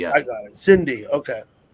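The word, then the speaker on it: Sindhi: It's pronounced like with a C, but it's with an S. Exactly. Yeah, I got it. Cindy.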